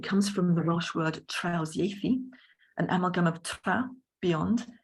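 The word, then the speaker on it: trawsieithu: So translanguaging comes from the Welsh word trausieithu, an amalgam of tra, beyond, iaith, language, and it's transformed into a verb by the suffix u, which is pronounced e in Welsh.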